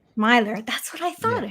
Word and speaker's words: Milor: to butcher your name do you pronounce it Miler or Miller Myer Myer that's what I thought